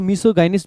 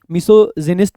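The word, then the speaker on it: misogynist: सो मिसो गाइनिस्ट basically क्या बन जाएगा, मिसोजिनिस्ट भी बोल देते हैं, गाइनिस्ट भी बोल देते हैं, बोथ आर एक्सेप्टेबल प्रोनाउंसिएशन।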